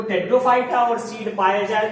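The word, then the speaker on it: Pteridophyta: टेट्रोफाइटा में P silent होता है, इसीलिए इसको हम क्या करते हैं, टी स्टेट से स्टार्ट करते हैं।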